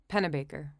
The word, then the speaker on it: Pennebaker: and it's scy right no I think it's pen Baker who who is it the correct pronunciation pennebaker yes scy you're right yeah and I guess